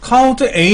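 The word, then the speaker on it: COUNTA: 세는 거 69 쪽에 카운트 a n 뭐냐면 카운트 오이라는 말에 줄인 말인데 카운터라고 읽지 않고 그 카운트 홀이라고 읽어요 카운트 a 비어 있지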